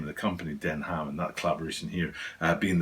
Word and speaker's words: Denham: and stuff like that but the pronunciation the name itself is den ham which is not denim and it has nothing to do with the material so that's why i